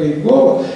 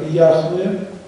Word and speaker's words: Яхве: Возьмите еврейскую энциклопедию, откройте раздел, который называется «Имена Божие», и там четко говорится, что произносить это имя, как Иегова, это филологическая ошибка.